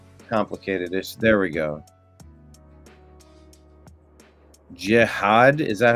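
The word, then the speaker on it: Jihaad: Jiad, is that how you pronounce it?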